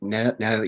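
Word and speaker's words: Natalya: It's kind of a funky, is the emphasis on a different syllable than you're used to.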